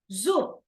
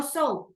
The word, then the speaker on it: soup: In pronunciation, soup, no soap, okay? Soup, sopa. But because the other means jabón, okay?